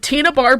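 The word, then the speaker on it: Tena Bar: This beach is called Tina Bar Beach. No, it is not spelled like Tina. It is spelled differently, but it is pronounced Tina. Okay. Beautiful. Finds it on Tina Bar Beach, which is somewhere in Washington.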